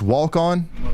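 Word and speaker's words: Waukon: So either uh I see a bunch of people yelling at me about my uh pronunciation of uh Walcon. It's walk on.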